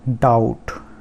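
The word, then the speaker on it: doubt: उसके बाद डाउट, डाउट, तो यहाँ पर B साइलेंट है, तो डाउट।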